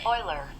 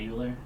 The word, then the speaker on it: Euler: That it's not "You-ler?" Yeah, I just feel so disrupted. "You-ler." "You-ler." "You-ler." Nope, not here-- because his name's "Oiler."